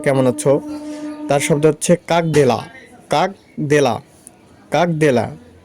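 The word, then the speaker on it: Как дела: তার শব্দ হচ্ছে কাক দেলা, কাক দেলা, কাক দেলা, উচ্চারণ কাক দেলা।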